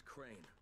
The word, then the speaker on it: Crane: no my name is crane crane crane rhymes with train and brain and shine and grain